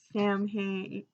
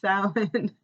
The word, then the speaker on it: Samhain: Samhain, it's not even how you pronounce it, Kim, you know it. It's Samhain.